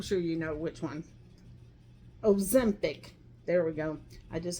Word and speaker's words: Ozempic: And I will tell you, it was Omesic, something like that. I'm sure you know which one. Ozempic.